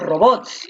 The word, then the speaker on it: robots: ahí están los robots tú dices ahí están los robots la fuerza de voz está en bots muy bien ahora si